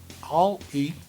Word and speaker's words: Oli: O Citroën Oli, pronuncia All-E, vai mudar tudo.